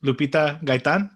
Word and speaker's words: Lupita Gaytan: My name's Eddie, and today I'm sitting here with Lupita Gaytan.